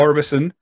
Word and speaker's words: Orbiston: Orbiston Neighbourhood Centre. Right. The silent T. We like our silent letters. Right. So Bells Hill, yep. Orbison Neighbourhood Centre, Busby Road, Bells Hill.